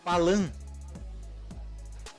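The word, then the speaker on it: paalam: língua, tchau, nessa língua se diz Palan. Palan. Pa-a-lan. Se escreve P-A-A-L-A-M.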